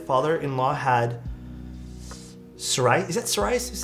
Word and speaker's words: psoriasis: my now late father-in-law had Sarai is that psoriasis is how you pronounce that uh so it didn't shampoo for